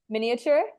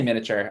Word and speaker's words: miniature: that I'm highlighting visually miniature oh that's so funny um I I guess I I say miniature I skip the eye but I I mean